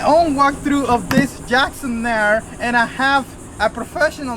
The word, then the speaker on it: Knarr: Knarr.